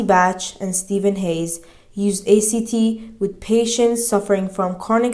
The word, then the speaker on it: ACT: commitment therapy or act act pronounced like the word Act was developed in the